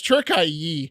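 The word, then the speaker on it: Türkiye: From now on, turkey will be known as Turkiye, Turkiye, quote, to better reflect their cultural values, according to President Erdogan.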